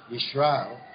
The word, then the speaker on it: Yisrael: Israel, Yisrael. Now there's contention because it's pronounced Z or S and not Sh, the Shin, the letter there.